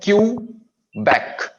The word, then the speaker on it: Quebec: Q as in Quebec. Q. We have two syllables.